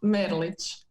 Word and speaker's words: Mrlic: So it's my name is Merlic.